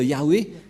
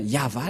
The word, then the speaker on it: Yahvah: chef T et bien yava la la prononciation et on va prendre en photo car certains aussi disent que que c'est yawa mais pas yava et c'est encore une une fausse un FA car la prononciation